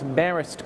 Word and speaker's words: Marist: things first of all its barest college emphasis on the first syllable second of all I was an executive with IBM for over 20 years I'm currently working with Maris College in the New